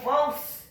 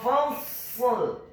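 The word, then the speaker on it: فصل: Ingat, yang benar pengucapannya bukan laqawlu fals, salah. Yang benar adalah innahu laqawlu fasl.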